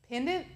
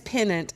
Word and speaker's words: pennant: a it's like a pendant yeah a little pendant yeah a little pendant or penis it's pennant and i always say it wrong the little penance it's